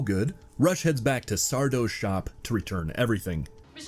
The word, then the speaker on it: Sardo: Deciding that this thing is no good, Rush heads back to Sardo's shop to return everything. Mr. Sardo, SO mister accent on the dough.